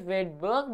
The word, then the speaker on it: Svedberg: Spelling is Svedberg. It is pronounced as Wedberg, but S comes faster. S is as silent.